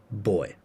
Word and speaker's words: buoy: British say boy.